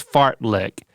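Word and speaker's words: fartlek: oh yeah fart let f-a-r-t-l-e-k pronounced fart lick Swedish origin means Speed play Speed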